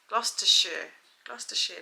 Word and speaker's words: Gloucestershire: Gloucestershire. That's how the British pronounce it. Not Gloucestershire.